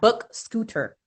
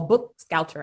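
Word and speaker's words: BookScouter: We got Book Scooter as well. Oh, Book Scouter actually is how to say it, because SCOUTER.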